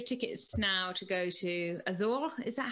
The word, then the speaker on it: Azores: So that race then meant you've booked your tickets now to go to Azores. Is that how you say it? Azores, yeah.